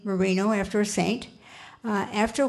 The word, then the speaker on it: Marin: And when the Americans came, they didn't understand the accents of the Spanish, and they pronounced it the name as they saw it, Marin.